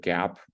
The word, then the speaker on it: GAAP: may see the word gap around it's that's gaap is pronounced Gap um and that stands